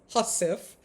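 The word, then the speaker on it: hussif: I learned that it the word is pronounced husf, but it's spelled hu w i f like huswife.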